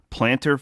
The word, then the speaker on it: plantar: Plantar fasciitis? Yeah, I know. I just added the tar.